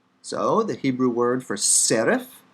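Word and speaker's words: שרף: isaiah 6 serif serif note the pay comes after a vowel so it's spiritized it's not per but and it comes at the end of the word so it's written in its final form serif take the same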